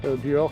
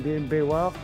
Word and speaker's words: Beoir: Buor qui pourrait être vu comme Bewar, prononcé souvent comme Bewar.